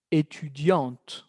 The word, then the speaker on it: étudiante: Va a cambiar la pronunciación, cuidado. Étudiante. Étudiante. ¿Por qué? Porque la T era como petit, muda aquí. Y luego se volvió con sonido.